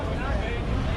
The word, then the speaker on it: açaí: que encontraremos aquí son: Açaí (pronunciado a-za-ī): de todas las frutas